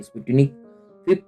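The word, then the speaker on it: Sputnik V: लेकिन जो स्पुतनिक V है, स्पुतनिक का फिर से मैं स्पेलिंग आपके साथ शेयर करता हूँ, SPUTNIK, ये रशियन वैक्सीन है। स्पुतनिक 5 या V से कहेंगे।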